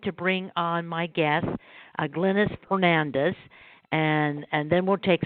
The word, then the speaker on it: Glennis: So my name is, and the way that you pronounce my name, too, by the way, is Glennis. Glennis. Sorry about that. Glennis. That's okay. When we met at the, I believe it was Learning Light, you may have heard my name as Glennis from some people, but actually the correct pronunciation is Glennis.